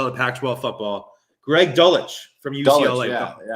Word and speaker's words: Dulcich: Greg Dulcich from UCLA. Dulcich.